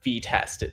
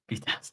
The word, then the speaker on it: Vest: as an actual us right here pronounce vest it's the very first thing on the website vest yeah yeah um so